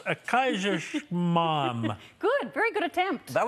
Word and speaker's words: Kaiserschmarrn: breakfast that none of us can pronounce, a Kaiserschmarrn. Good, very good attempt. That was it. That wasn't it, but close. Okay. There are two ways to spell it, but only one way to say it. Oh! Kaiserschmarrn.